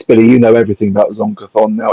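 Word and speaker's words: Zon-Kuthon: The deity Zonkathon, pronounced Zonku-thon, possesses one of the most twisted and evil minds in the great beyond.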